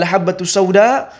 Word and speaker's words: habbatussauda: Kitab Shahih Bukhari yang seharusnya Bacanya adalah habbatussauda Namun karena dia salah